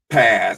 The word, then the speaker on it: Paz: It's Paz, but Paz.